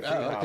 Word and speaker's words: Friedhofer: Friedhofer.